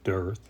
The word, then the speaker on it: dearth: It's pronounced earth with a D, dearth.